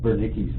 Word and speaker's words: Wernicke: And so it's W to W pronounced with a D, Wernicke's region of the brain.